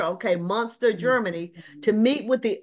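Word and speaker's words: Münster: Did I pronounce that right, Paul? Munster. It's Munster. Okay, Munster, Germany, to meet with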